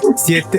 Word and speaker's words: Siete: The sweet and savory, the new, how do you say that? Satan? Satan? Siete. Oh yeah, I'm thinking English. Siete. I'm thinking Spanish, English. bro. The siete tortilla chips are. I'm thinking English pronunciation.